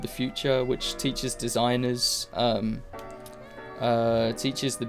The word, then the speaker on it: Futur: It's spelled Futur, The Future.